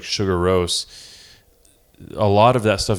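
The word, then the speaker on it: Sigur Rós: as well as like some secular bands like Sugar Rose.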